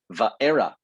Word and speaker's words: Va'era: the book of shemot it is called va'era not to be confused with vieira by the way valera is in genesis this is the era slight nuance on the pronunciation it's the second book